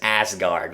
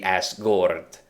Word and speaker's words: Asgard: the thor movies because everybody says asgard and it's supposed to be asgort because uh because it has the uh you know